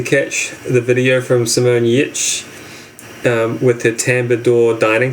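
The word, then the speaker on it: Giertz: It starts with a G. Yeah, it's pronounced Yitch.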